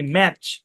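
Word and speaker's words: match: যেমন দেখেন এম এ টি সি এইচ এই শব্দের উচ্চারণ কি ম্যাচ এখানে টি সাইলেন্ট ম্যাচ ম্যাচ মানে কি ম্যাচ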